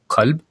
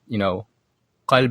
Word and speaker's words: Qalb: There's a programmer in Brooklyn released an Arabic programming language called Qalb, or pronounced in his dialect is called Alb.